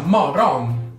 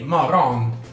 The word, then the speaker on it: morgon: La parola mattino in svedese si scrive morgon, ma si pronuncia morgon. Non c'è un vero e proprio motivo, gli svedesi lo pronunciano così. Che ci posso fa? Quindi morgon, morgon.